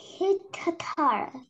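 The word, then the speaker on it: guitarra: Кітара. Кітара. Кітара. Дивіться, ось, Оля, ось це Q, K, U, I читається як K. Оце U випадає. І ми просто читаємо кітара.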